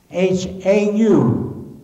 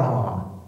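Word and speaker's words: hau: Now, the word was mistaken by the English-speaking people as H-O-W, how. Well, we know how. H-A-U was our ha, and it's pronounced ha, kola.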